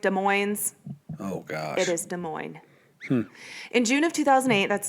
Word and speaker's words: Des Moines: People pronounce Des Moines, Des Moines. Yeah, Des Moines. Oh, gosh. It is Des Moines.